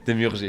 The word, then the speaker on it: Demurger: de ton vrai nom, Demurger, comment on prononce, Démurger, on pardon? dit. Demurger, Demurger, qui a réalisé le segment de